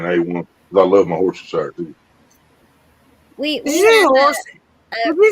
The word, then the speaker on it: Worcestershire: Worcestershire. Yeah, Worcestershire sauce. I would never say Shire. That's just weird.